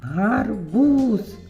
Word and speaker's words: гарбуз: А тепер ми його кличемо гарбуз. Наголос на у.